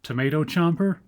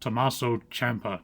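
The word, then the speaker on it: Tommaso Ciampa: is Johnny Gargano and tomato chomer uh that's pronounced Tomaso Champa not tomato chomer so yeah between those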